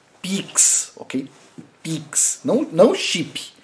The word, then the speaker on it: PIX: Não é chip, tá? É PIX. PIX. Não confunda. Mas vamos lá. E é lógico, né? Eu sei que chip é com CH, mas a forma como a gente pronuncia poderia... como a gente pronuncia poderia ser com X, né?